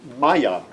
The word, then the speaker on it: Maillard: His name was Maillard, and the pronunciation is, at least then, Maillard. The accent is on the first.